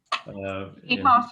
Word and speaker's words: Quijas: Quijas is correct, Mr.